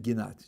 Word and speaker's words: Ginot: There was a guy named Chaim, I think he pronounced his name Ginot, G-I-N-O-T, an Israeli psychologist.